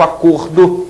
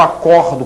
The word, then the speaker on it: acordo: né então o ver o substantivo acordo tem um som fechado o verbo acordo que tem um som aberto portanto a pronúncia é diferente mas eles se escrevem